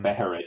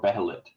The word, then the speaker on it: Behelit: So like Beherit, you can pronounce it Beherit or Behelit. It's the same thing because there's no differentiation. That's why I think, Joe, you pronounce it Behelit.